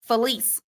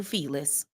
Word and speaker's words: Felise: Pronounced fel feliss. Felise. I've been calling you feless.